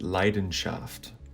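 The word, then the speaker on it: Leidenschaft: countries as well like in german for example the word for passion is pronounced leiden shaft which literally means the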